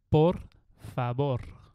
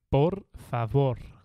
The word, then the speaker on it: por favor: please and it's like por favor yes so the V you pronounce it like a b in Spain so it's like por favor so you don't say